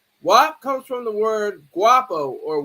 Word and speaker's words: guapo: WAP comes from the word guapo or wapo. They pronounce it with the W sound, but it's G-U-A-P-P-O, I think it is, and it's wapo.